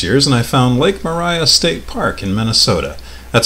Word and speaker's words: Maria: after all these years and I found lake Moriah State Park in Minnesota that's how it's pronounced it's about an hour away from the